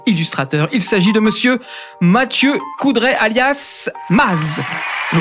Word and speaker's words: Mathieu Coudray: Il s'agit de monsieur Mathieu Coudray, alias Maz. Je prononce bien ?